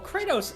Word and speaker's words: Kratos: of war because well kratos is the way you're supposed to pronounce it i remember i got